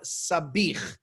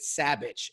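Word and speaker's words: sabich: but i love falafel this is something called sabih where in sometimes in america they might pronounce it savage s-a-b-i-c-h um and um it basically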